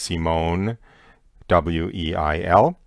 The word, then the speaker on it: Simone Weil: That last name, should anyone be interested in looking her up later, is Weil, but she lived in France, so it's given the French pronunciation of Weil, but it's Simone Weil.